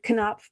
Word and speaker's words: Knopf: This is coming from Knopf, and I'm saying it correctly this time, Knopf Publishers.